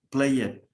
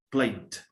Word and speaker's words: played: español y cuando escuchamos pareciera que dice trick it, play it, miss it. No. La E es muda y la última letra es la que se pronuncia, aunque sea consonante. Missed, tricked, played.